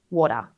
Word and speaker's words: water: So the key really is quick, light tap to the roof of the mouth. Water.